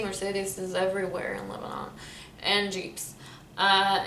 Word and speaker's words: Jeep: everywhere in lebanon and jeeps uh in lebanon we say jeep you don't say jeep it's like the french word sheep so america how do